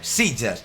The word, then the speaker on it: Sitges: Pues aquí me pongo yo tonto y se pronuncia Sitges.